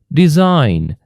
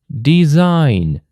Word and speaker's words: design: Or design, design. Do we pronounce G here? No.